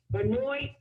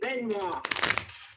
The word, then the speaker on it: Benoit: You know, like how it's like down there in Massachusetts, you say Benoit, right? We say Up here you say Benoit. Benoit. Anoint. Yeah, and it's spelled the same way.